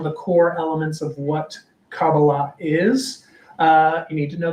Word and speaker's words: Kabbalah: So I pronounce it in the modern Hebrew way, Kabbalah. You might hear it with a more Ashkenazi pronunciation, which is Kabbalah.